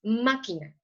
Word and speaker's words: máquina: palabra sílaba tónica entonces si la sílaba tónica está en la antepenúltima como vemos aquí que es la ma está en la antepenúltima entonces se va a acentuar siempre se le va a poner su acento de acuerdo aquí como la sílaba tónica la que suena más fuerte es la más si lleva acento de acuerdo es máquina o por ejemplo tenemos